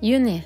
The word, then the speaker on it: juni: Here I write out June, but in Norwegian it's pronounced Juni, so it's pretty similar to the English written name, but it's pronounced a bit differently.